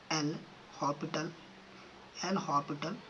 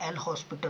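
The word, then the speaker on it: L'Hôpital: कौन सा, apply एल हॉपिटल rule. देखो बहुत लोग बोलते हैं एल हॉस्पिटल रूल, वो गलत होता है, प्रोनाउंसिएशन गलत होता है, एल हॉपिटल होता है ना कि हॉस्पिटल, एल हॉपिटल रूल।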